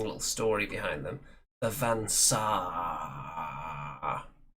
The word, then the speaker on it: Van Saar: The Van Saar. You have to pronounce the double A there. So, the Van Saar, they have very advanced technology, but it comes at a terrible price.